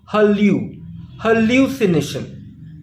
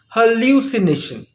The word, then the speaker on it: hallucination: Nation but the stress is on the first syllable hallucination pronounce it after me hallucination we don't say hello c nation nor we say halusi Nation but we pronounce it as hallucination so if you want how to put a